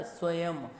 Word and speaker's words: स्वयं: बिंदु निर्धारित है, और जब यह शब्द के अंत में आता है तो म रूप में बोला जाता है। आप जानते हैं ना, स्वयं, यह कि अगर अंत में इसका प्रयोग होगा तो इसको उच्चारण मैं के समान होगा, तब इसे स्वयं स्वयं बोलेंगे।